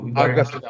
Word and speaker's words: Agastya: Agastya? How do you pronounce your name, my dear sir? Yes, sir. It's Agastya. Agastya. Oh, wonderful. I don't want to pronounce it wrong.